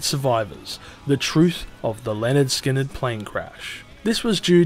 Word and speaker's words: Lynyrd Skynyrd: with these deaths it left Gary rossington as the last of the pronounced Leonard Skynyrd era lineup left in 2017 the members of